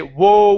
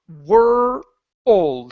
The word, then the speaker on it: world: O you're saying wo it's not wo it's were like her okay so let's try